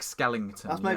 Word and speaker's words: Skellington: Skeleton like I say skeleton. Well, his name is Jack Skellington. That's where I've got it from.